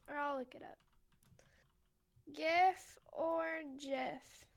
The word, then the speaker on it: GIF: Yeah, but also GIF stands for or GIF is graphics interchange format, right? Yeah. Like so it's a hard G when you're pronouncing graphics, right?